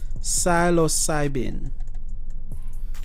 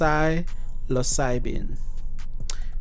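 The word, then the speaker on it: psilocybin: or arrests related to silocybin are experiment it's pronounced psylocyben magic mushrooms are sold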